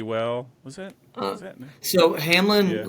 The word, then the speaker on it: Hamline: it that you and is it Hamline or Hamlin Hamlin um I Heard pronounce both ways I was just go with the Hamlin version Hamlin all right Hamlin